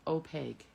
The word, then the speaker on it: opaque: products for baby cards op it is pronounced opaque ah okay second way sorry